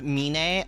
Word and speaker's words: Mine: Mine. A it's pronounced Mina. Okay, it is Mina.